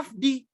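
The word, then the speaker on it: עַבְדִּי: Dan kata abdi itu sebetulnya ya bahasa Ibraninya itu ada afdi, pakai bet ya. Dibacanya afdi.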